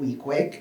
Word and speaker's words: Weequahic: Park Association um as we locals call it wiqui even though it sounds as it should be pronounced wqu right or wiek which means head